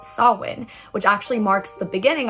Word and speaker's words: Samhain: So Halloween actually has its roots in the ancient Celtic festival pronounced Samhain, which actually marks the beginning of the harvest season at the end of the summer.